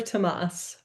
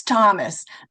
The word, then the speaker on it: Thomas: Thomas sounds pretty much the same in it doesn't really sound too different in German or English.